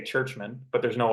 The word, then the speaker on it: Czuczman: I've been in cck I don't think it's been pronounced churchmen once it's been pronounced chuchman and uh you know